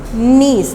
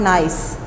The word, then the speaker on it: niece: The correct pronunciation of this word is niece, not nice.